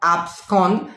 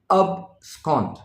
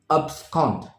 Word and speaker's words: abscond: in today's list abscond abscond now follow the pronunciation it is not abscond it is abscond abscond now what does this mean it means to